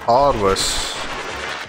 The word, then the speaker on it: Parvos: Parvos. That's how you pronounce it.